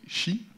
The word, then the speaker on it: Qi: choisi de vous parler à la fois de chi qui s'écrit petits mecs et qui se dit fier